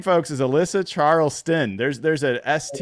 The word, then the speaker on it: Charlston: really pay attention her name folks is Alyssa Charleston there's there's a St it's not charl tin it's Charles Sten uh with Fox 13 and and I'm so